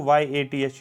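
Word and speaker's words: Vyath: नाम बोला जाता है, यथ बोलते हैं। वी को साइलेंट रखो, YATH, यथ बोल सकते हो।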